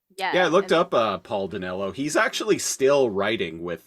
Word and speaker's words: Dinello: So there's like Amy Sedaris, Paul, I will say his name wrong. What is it? Paul D'Amello. Paul Dinello. That's it.